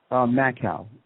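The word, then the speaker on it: Makow: So it's spelled just like it sounds, man-cow? Macau, M-A-K-O-W.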